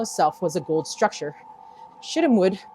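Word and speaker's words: shittim wood: Shidamwood, pronounced sheet teamwood.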